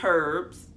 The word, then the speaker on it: herbs: Next, we have the food herbs. I don't know why I keep want to pronounce the H.